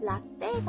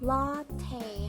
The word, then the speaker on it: 라테: 아이 라테 아이스라테 라떼는 라떼가 아니고 라테 하고 발음해 주시면 돼요 우리 조금 전에 주문할